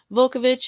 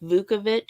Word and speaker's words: Vukovich: Vukovich is the most common pronunciation that I've heard, along with Vukovich. So I'm not sure if the L is supposed to be silent or if it's. I've heard it pronounced both ways.